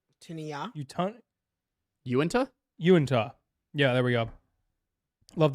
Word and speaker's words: Uinta: Latinian is pronounced with a sound at the end, not a sound. Tinia. Uinta? Uinta.